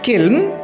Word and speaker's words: kiln: কারখানা, ব্রিকলি কিলন, ইটভাটা, উচ্চারণটা খেয়াল করো, KILN, কিলন, ইটভাটা, ওল্ড অর পুয়ারলি